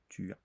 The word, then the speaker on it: tu as: the French lessons that we tend to not pronounce the the letter S at the end. So, this a we will never pronounce S. We'll just say tu as tu as.